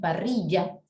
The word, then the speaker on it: parrilla: dicen parrilla, esa Y, ¿cómo lo pronuncia un argentino? Parrilla, ¿no? Lo pronuncia como si fuera una ya, ¿no? O sea que ellos no pronuncian la doble L, ellos lo pronuncian como si fuera SH, ¿no?